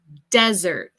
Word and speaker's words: desert: Okay, so desierto would be desert. So we put more emphasis on the first syllable.